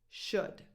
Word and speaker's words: should: The L is completely silent here too. Would, could, should. 0 L, nothing.